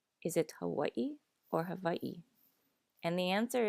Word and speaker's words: Hawaii: But if you do use more of a V sound, it is a softer V than in English. So not Hawaii, but Hawaii.